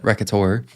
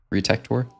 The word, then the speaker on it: Retektor: Oh, by the way, when pronouncing my nickname, you put emphasis on tech syllable. Retek. Tor.